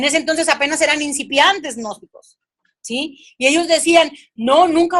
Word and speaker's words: gnósticos: ese entonces estaban los gnósticos se escribe con g n oeste gnósticos ellos hablaban acerca del